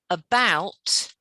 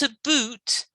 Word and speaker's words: about: required that's better and remember about rhymes with cow it's not a boot it's about that's better